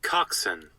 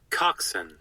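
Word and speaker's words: coxswain: is it called that here's correctly how to pronounce it coxen coxen okay so I do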